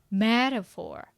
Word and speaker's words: metaphor: literally And this one, listen. metaphor Yes. First syllable.